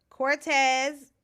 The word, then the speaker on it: Quartez: Cortez, his name is spelled Quartez.